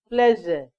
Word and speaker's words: pleasure: Pleasure, not pleasure. Okay. This one is, pronounce it, the hair is an H in